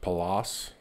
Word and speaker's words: Pallas: this is pressed it i believe it's pronounced palace here's the sticker on